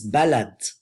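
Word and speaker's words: بلد: How do you say country in Arabic? Barad, Balad, or Banad? Good job, you guessed it right. It's Balad.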